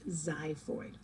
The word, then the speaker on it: xiphoid: so yes it's pronounced it's spelled with an x but it's pronounced xiphoid in young people the